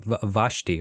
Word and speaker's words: Vashti: I'm sorry if I mispronounced your name. Vashi, right? Is that how you say it? Vashi.